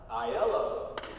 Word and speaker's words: Aylo: office specialist aylo i'm not sure i said that correctly how do you say your last name i yellow i'll try not to